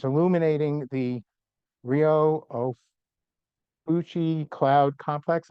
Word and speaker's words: Ophiuchi: And it's illuminating the Rio Ophiuchi cloud complex. I know I mispronounced that. Ophiuchi. I've been corrected.